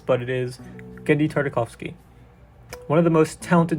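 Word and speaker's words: Genndy Tartakovsky: a man whose name is not easy to pronounce but it is Genji tartikovsky one of the most talented directors out there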